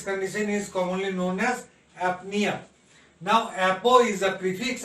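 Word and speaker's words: apnoea: as aphonia now apnea now apnea o is not pronounced here o is not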